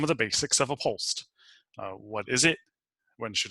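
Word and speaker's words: POLST: on the screen the pol st you're gonna hear that commonly pronounced as pulsed stands like Jill said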